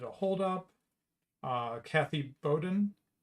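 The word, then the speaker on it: Boudin: hold up uh Kathy Bowden I'll just pronounce her name Bowden it's b-o-u-d-i-n uh Kathy Bowden was involved with this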